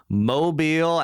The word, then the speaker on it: Mobile: on Bradley flowers from Portal Insurance out of Mobile Alabama how you doing today Bradley I'm great